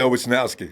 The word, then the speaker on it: Wishnowsky: Yeah, Wishnowsky.